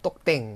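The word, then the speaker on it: ตกแต่ง: 자, 그리고 똑땡 할 때, 땡도 장문 에가 있어서 길게 발음해야 될것 같이 장문 표기가 대부분 다른 교재엔 돼 있지만 우리는 어떻게 하자? 이거 단문을 하셔야 됩니다.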